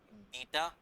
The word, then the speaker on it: beta: देखो सुनो, अब अल्फा की माइनस इन्फिनिटी वैल्यू सेट करनी है, बीटा या बेटा, जैसे भी प्रोनाउंस करना है, मैं बेटा प्रोनाउंस करूंगा।